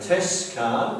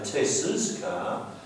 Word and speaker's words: Tess's: We don't say Tess' car, we say Tess's car.